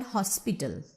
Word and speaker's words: hospital: So I hope it is clear to you that when there is no root word, for example, in the word hospital, it is stressed on the first syllable.